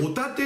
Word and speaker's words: 御館: がこれがいわゆるホタテの乱というやつなんですね音や方と書いて見立てではなくてこれホタテと読みますホタテのナンと